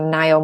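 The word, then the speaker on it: Ngaio: read a ton of Agatha Christie I loved Nile Marsh who's a sort of classic mystery writer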